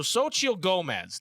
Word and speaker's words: Xochitl Gomez: It's like so Xochitl Gomez, dude.